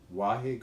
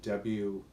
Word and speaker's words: Wahe: We chant 31 minutes to Guru Ram Das, and we call it the mantra for miracles, and the words are Guru Guru, Wahe Guru, Guru Ram Das Guru.